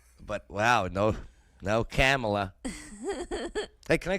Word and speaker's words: Kamala: yeah yeah so what I've only heard it pronounced Cala I know and then all of a sudden they tried to say no it's k or camela camela camela wow okay oh boy